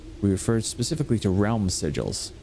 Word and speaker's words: sigil: However, today when we use the term sigil we refer specifically to realm sigils. I like sigles better, but it's pronounced sigil.